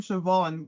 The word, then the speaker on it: Siobhan: Like let me tell you about the name Siobhan cuz when I saw that name written down I did not think it was pronounced Siobhan.